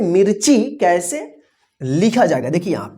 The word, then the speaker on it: मिर्ची: बड़ी ई की मात्रा, और इस मी के बाद आधा र का उच्चारण होता है, आधा र का जो है ना रेफ इस तरह से बन जाएगा, ठीक है ना।